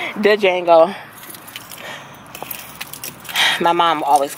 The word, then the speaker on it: Django: his name all right I know the D is silent see y'all off the